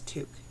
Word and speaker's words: toque: you were always wondering the proper pronunciation it's toque Canadian toque grab your